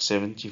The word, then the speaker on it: seventy: so we notice that the stress is on the last part when it is 17